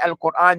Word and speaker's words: القرآن: After you say qu, you're going to bring your lips back and pronounce the ra. Al-Quran. القرآن. Al-Quran. القرآن. Don't say al-Quran. It's not Quran.